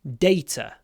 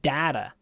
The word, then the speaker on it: data: Data. Американцы говорят data. А мы говорим data.